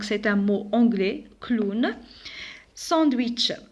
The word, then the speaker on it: sandwich: Sandwich. Le sandwich aussi c'est un mot anglais, mais ici on a la lettre wa. Alors clown. Alors ici le W je le prononce comme wa. Sandwich.